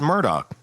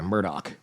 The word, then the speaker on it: Murdaugh: It's Murdoch. They were saying like Murdoch. Yeah. And and Alec does too. Alec hits the K in there. Murdoch.